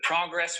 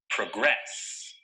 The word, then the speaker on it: progress: look at the verb the correct pronunciation of this word is progress notice that the stress is on the second syllable progress progress here are a few